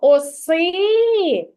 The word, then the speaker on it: оси: куди ж падає наголос погукайте так куди падає наголос и на и Ти думаєш що на и А що ми кри ми гукаємо оси оси Так ану ще раз погукай це слово оси оси на на О так на перший склад на